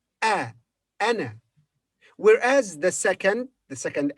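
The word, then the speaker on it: أنا: first and the last the first is pronounced as a in apple ah anna whereas the second the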